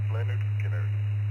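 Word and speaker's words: Lynyrd Skynyrd: I'd say the first album, if I remember correctly, would be Leonard Skinner, pronounced Leonard Skinner.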